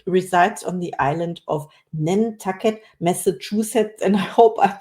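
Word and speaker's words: Nantucket: well I'm impressed and you said n tuck it exactly correct oh thank you so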